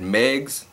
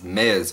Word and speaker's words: Mez: today and uh I I said Megs blogs all but it's Mez blogs o that that's the right it's Mez not Megs I'm dyslexic I I